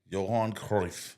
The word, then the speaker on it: Johan Cruyff: Johan Cruyff. Johan Oh, wow, that was a great pronunciation.